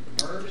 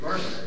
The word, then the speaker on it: MRSA: Matter of fact, to the point where they're even doing research now on MERS. Did I pronounce that right, Rob? MERS, MRSA, the bacterial infection. MRSA.